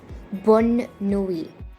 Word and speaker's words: bonne nuit: But in this case, we have an additional N and an E, and hence it is pronounced as bonne nuit.